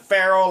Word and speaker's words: Farrell: But Farrell, like a feral cat.